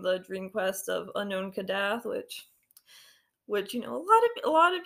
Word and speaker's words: Kadath: so if you read the dream of unknown Kadath yeah that's how you say it I know